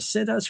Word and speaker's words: situs: and settle your family, you say, "We're gonna sit us right here." Okay. So, that's that's why that's why I pronounce situs.